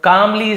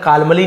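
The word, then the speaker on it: calmly: the astrologer कामली said, तो ज्योतिषाचार्य ने, कामली L silent होता है, कालमली नहीं पढ़ेंगे, बट ये वाला एल साइलेंट है, ये एल साइलेंट है, कामली सेड यानी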